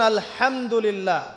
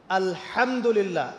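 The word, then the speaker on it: الحمد لله: আপনি পড়ছেন আল্লাহু আকবার, আলহামদুলিল্লাহি রাব্বিল আলামিন, এই তো আপনি পড়ছেন আলহামদুলিল্লাহ। শব্দটা কি? আলহামদুলিল্লাহ। এই হা এর মাখরাজ কোথায়? হা এর মাখরাজ কোথায় বলেন একজন? কণ্ঠনালীর মাঝখান থেকে।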